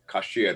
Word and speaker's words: kasher: From kasher means to be consented more so. And we just, you know, when we say kosher, it's more like the Yiddish pronunciation.